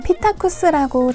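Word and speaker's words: Psittacus: 스페인 바르셀로나의 위치한 프시타쿠스입니다 보통 피타쿠스라고 잘 알고 계시는데요 정확한 명칭은 프시타쿠스이며 피읍은 묵음이라 잘 들리지 않는답니다 플스타코스 앵무새 펠렛은 세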